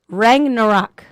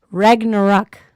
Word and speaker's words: Ragnarok: a second all right rang no rock is that how you say it yeah basically right rang no rock rock rag ragna rock ragnarok there you go ragnarok see i was